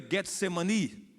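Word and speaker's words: Getsêmani: Começa falando do jardim do Getsemane. Em hebraico é Getsemani.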